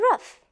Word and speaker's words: rough: In these words, we pronounce GH as F, F.